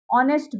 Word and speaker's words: honest: Before words that begin with silent H, honest boy and honor. Now here H is silent in honest.